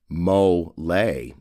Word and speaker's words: mole: blend before serving Mexican mle sauce Mexican mle sauce pronounced mole is considered to be